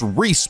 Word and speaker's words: Ries: as also his spicy friend uh which is pronounced Reese by the way thank you I had a